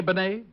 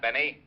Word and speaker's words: Benet: Benet auto accident Renee Benet yeah I guess that's the way you pronounce it you see Otis your Mallet head you were wrong it's pronounced Benet not Benny that idiot was calling